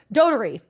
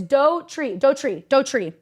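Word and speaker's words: Doherty: And we see Jack, Dotery. Oh, no, you guys, somebody pronounce, it's Dotry. His name is Jack.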